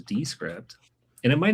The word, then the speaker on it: Descript: So Descript is wrong. This is Descript.